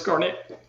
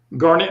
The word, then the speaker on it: Garnett: Garnett, like darn it? Yes, I've never heard that before. I promise. Oh, no, I don't imagine you have. No. It's pronounced like the birthstone.